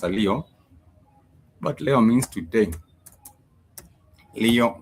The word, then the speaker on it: leo: Spelled the way you would pronounce a Leo.